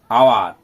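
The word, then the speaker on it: hour: এই যেমন আওয়ার, আ মানে এ, এইচ দিয়ে কিন্তু বানানটা শুরু, সেটাকে সাউন্ড বলা হচ্ছে। কনসোন্যান্ট থাকলেও ভাওয়েলের মতো উচ্চারিত হচ্ছে, সেটাকে ভাওয়েল সাউন্ড এবং কনসোন্যান্ট সাউন্ড, সেটা উঁচু ক্লাসের দিকে শিখব।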